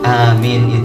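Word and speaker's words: آمين: Kalau baca amin tuh yang benar, begitu. Sampai kalimat amin itu nggak boleh dibaca pendek dua-duanya, nggak boleh dibaca yang satu pendek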